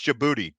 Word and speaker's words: Djibouti: you guys are awesome Djibouti I know how to pronounce Djibouti deed yeah I know Djibouti that's how you pronounce because the military goes